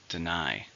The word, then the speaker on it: deny: something it's a verb how many syllables are in deny to stress in a second deny he didn't bother to